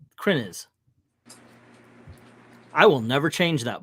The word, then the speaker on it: Krenz: just hit me that I say your name wrong I say krenz k r NE Z when it's kren is I will never change